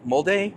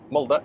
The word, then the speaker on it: Molde: And when I was over in uh Molde, am I mold? Am I saying that one right? Molda. Yeah, Molda. So much better. Uh leave it to an American to butcher the language.